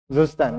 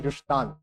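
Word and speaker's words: Zustand: Zustan, na? It's German, it's pronounced as Justan.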